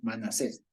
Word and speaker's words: Manasés: Manasés. ¿Por qué? Porque Manasés se escribe así.